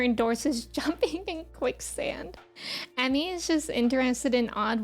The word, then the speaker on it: Emme: worldwide new welcome in my name is pronounced Emmy I always say in person when I introduce myself it's like Emmy Emmy like the award um and that usually